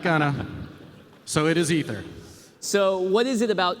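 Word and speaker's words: Aether: to get it right it's written a e t h e r but it's pronounced ether it is ether we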